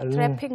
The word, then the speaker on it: traffic: Traffic law? 약간 이응 발음처럼 바뀔 거예요. Right. 그런데 영어에서는 그 K가 살죠? Right. 네. So, I never heard that before. Yes, so you have to actually pronounce the K.